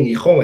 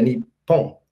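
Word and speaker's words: 日本: Porque a pronúncia não era nem Nihon, era Nippon. Né, com dois P's, então uma dupla consonantal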